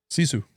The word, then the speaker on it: Sisu: Sisu.